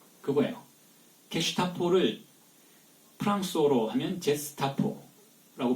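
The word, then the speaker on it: Gestapo: 이 G라는 것이 독일어에서는 G이면 게라고 발음이 되지만 프랑스어에서는 G이면 제로 발음이 돼요. 그게 게로 발음이 되는 경우는 U가 붙어야 돼요. G-U-E가 되어야 게슈타포가 되는데 게슈타포를 G-E로 쓰니까 제스타포예요. 제스타포.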